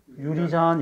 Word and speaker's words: 유리잔: 오, 이렇게 네 개를 바꿔봤더니, 네개 중에 하나는 된소리를 푸는 게더 자연스러운 발음이 있을 수도 있어. 그게 바로 뭐? 유리잔, 이거죠, 유리잔. 면허증을 면허증, 사기죄로 복역했다, 이런 표현을 안 쓴다, 이런 발음을 안 쓴단 말이야. 근데 유리잔이 깨졌다라고 쓰지요. 그래서, 아, 된소리로 바뀌지 않는 게 4번밖에 없구나.